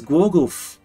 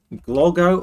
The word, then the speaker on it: Głogów: Oh, it's Głogów. I think, what do we prefer? Głogów or Głogów? What's the better pronunciation?